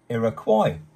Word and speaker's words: Iroquois: a tribe called the Iroquois an Iroquois is pronounced Iroquois and they lived in the area that is